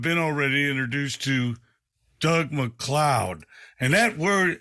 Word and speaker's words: MacLeod: already introduced to Doug McCloud and that word and his last name is spelled m-a-c-l-e-o-d that's right and his friends that